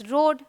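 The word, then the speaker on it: road: यहाँ पे देखिए ए साइलेंट है, ओ करके बोलना है, इट्स रोड, ठीक है।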